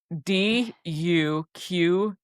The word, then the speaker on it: Duquesne: Duquesne. Okay, you don't pronounce it qua, you pronounce it ka. Just act like it's a K. Fort de Quesnay.